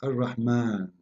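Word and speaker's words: الرحمن: So if we say Ar-Rahman in the Quran, it's coming the alif very short, but you hear me pronouncing the alif, Ar-Rahman. Ar-Rahman. This is not a fatha only, it is a letter.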